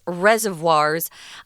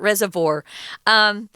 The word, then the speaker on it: reservoir: these things called reservoirs there are different ways to pronounce this word you can pronounce it reservoir you can pronounce it reservoir and you can pronounce it reservoir i pronounce it reservoir they're all correct um this is the